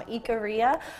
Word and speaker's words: Ikaria: of mine gave me from Ikaria, which is, I believe, the correct pronunciation, and that is an